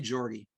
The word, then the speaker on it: Jorgie: Is it Jorgie or Yorgie? How do you best pronounce? We say Jorgie.